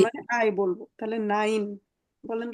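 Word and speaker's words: Nein: নাইন, বলেন তো এটা কি? নাই নাইন, হ্যাঁ, না নাইন। এটা এই যে আই, হ্যাঁ, ই আর হ্যাঁ আই, যেটা ইংরেজিতে, এটাকে আমরা জি জার্মানে আই বলবো। তাহলে নাইন বলেন তো আরেকবার।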